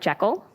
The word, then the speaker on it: Jekyll: We've got Robert Jekyll. Did I pronounce that correctly?